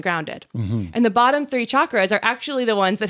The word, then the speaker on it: chakra: of background about chakras chakra is the indian pronunciation it's like the ch in chocolate chakra but a lot of times people just say shocker and that's fine too